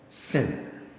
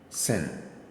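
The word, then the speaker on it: שׂין: like that with s when you see the dot here is s sound s sound like S as in sin the name to is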